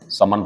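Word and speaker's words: sermon: एक इसका सिनोनिम और दूंगा मैं आपको, सरमन। समन पढ़ते हैं इसे वैसे, लेकिन सरमन लिखो आप, समन। आर को हल्का सा साइलेंट बोल देते हैं।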